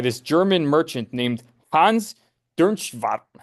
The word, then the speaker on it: Dernschwam: Then we can read an account here of how they were viewed, by the way, by this German merchant named Hans Dernschwam.